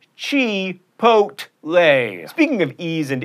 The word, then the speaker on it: Chipotle: You get guacamole or guacamole at Chipotle. That's right, Chipotle.